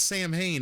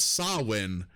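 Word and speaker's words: Samhain: world is like crushed so it's not Sam Hayne if you guys out there are listening uh it's called sawin Uh but it's still spelled Sam Hayne but it's a gelic pronunciation so um yeah that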